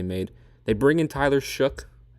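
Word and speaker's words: Shough: they bring in Tyler Shook. It's weird that that's how you pronounce it and not show, but it's Shook from Louisville.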